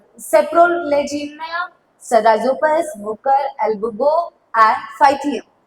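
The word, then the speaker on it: Saprolegnia: Okay, ये थोड़ा सा आपको प्रोनाउंसिएशन सीखना होगा. देखो मैं एक बार और वापस से बोलती हूँ. सेप्रोलेजिनिया, राइजोपस, म्यूकर, एल्ब्यूगो एंड फाइथियम.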